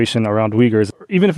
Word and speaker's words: Uyghur: Could you teach us the correct way to pronounce Uyghur or Uyghur? Okay, here we go. So Uyghur is pronounced Uyghur. Uyghur.